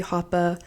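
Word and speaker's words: Hapa: It's DJ Happy Hoppa. Hoppa is spelled H-A-P-A, and I'll be posting show episodes on there.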